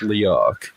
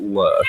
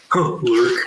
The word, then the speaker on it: Learke: Well, and it's pronounced Learke, not Lurk, like a lot of people think. Learke.